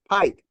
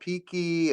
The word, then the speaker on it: Pike: is that yeah yeah Pike and I I me I get called peeky and and PK and it's like no I'm not Spanish I'm German it's p you know but I